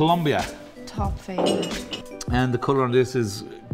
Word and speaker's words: Andean: Le Funnies: la quercia andina Questa è la sola e unica quercia andina. Pronunciata an-dee-uhn Ok.